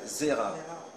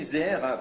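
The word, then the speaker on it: זרע: On l'appelle Zera. Zera, ça s'écrit Zain, Resh, Ain.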